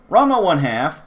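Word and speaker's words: Ranma ½: Ranma 1/2, as you must pronounce it 1/2, not simply half, because it is in fact styled with the fraction style, 1/2, 1/2.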